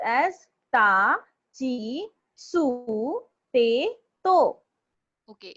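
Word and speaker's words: ち: It is not pronounced as T. It is pronounced as chi. Okay, it's chi.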